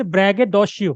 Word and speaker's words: braggadocio: The braggadocio, the pronunciation is braggadocio.